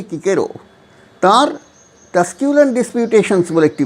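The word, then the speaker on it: Cicero: আর ও ভুল করেছি অনেকে সিসেরো উচ্চারণ করেন এখানে যাই হোক লাতিন উচ্চারণ হচ্ছে কিকেরো তার টাস্কিউল ডিসপিউটেশনস বলে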